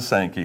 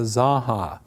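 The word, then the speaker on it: Zanja: i know it okay the mispronunciation of the zaha how do you get an s a k and a y out of the word spelled z-a-n-j-a well it's simply because you had farmers who didn't know any spanish at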